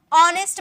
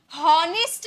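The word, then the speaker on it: honest: नेक्स्ट, ऑनेस्ट मैन, हॉनेस्ट नहीं बोलते हैं, लिखा हुआ एच ना, हॉनेस्ट नहीं बोलेंगे, एच साइलेंट, यहाँ भी एच साइलेंट होता है।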